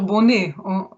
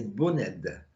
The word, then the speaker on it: Boned: Docteur Bonnet, vous êtes Alors, docteur, vous continuez oui, oui, et mon nom c'est Boned. à Bonnet, ça se Oui, prononce. ça se Ah prononce oui, Boned.